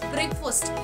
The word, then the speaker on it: breakfast: the pronunciation of it it's breakfast not breakfast it's not fast it's breakfast so you normally eat